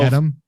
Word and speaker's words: Dedham: If it's a 2-syllable town that ends in HAM, it's an. If it's more than 2 syllables, it's a ham. Interesting. Okay. Yep. So Dedham, Rainham, Framingham, Needham.